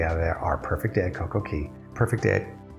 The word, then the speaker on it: CocoCay: our perfect day at CocoCay. Perfect day at CocoCay? If you know exactly how Royal Caribbean pronounces it, C-A-Y is pronounced key everywhere else, but it doesn't rhyme with perfect day.